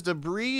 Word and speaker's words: debris: The thing is, debris is my neighbor. I know from asking him that they prefer their name to be pronounced as the English word debris.